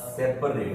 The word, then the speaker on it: separate: सेपरेट सेपरेट सेपरेट सेपरेट सेपरेट सेपरेट सेपरेट सेपरेट सेपरेट नहीं हो, सेप प के बाद हल्का अ लगता है, सेपरेट।